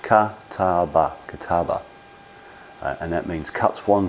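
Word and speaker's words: 片刃: But that's the kataba, pronounced kataba, and that means cuts one side.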